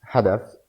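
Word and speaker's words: حذف: Tam hadaf, or hazaf, sorry. Actually, it's not even hazaf, because hazaf, the za pronunciation is dialect pronunciation.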